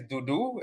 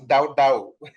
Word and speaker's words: Dudu: Patricia and hello everyone my name is Dudu I don't pronounce da da like like my Nigerian friends and colleagues do a country where I